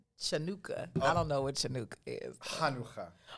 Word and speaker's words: Chanukah: i don't know what chanukah is if your throat don't hurt when you say it you're not saying it right way to taste the